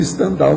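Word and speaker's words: Stendhal: o povo fala lá então acaba pronúncia sendo standal mesmo vocês sabe que escreve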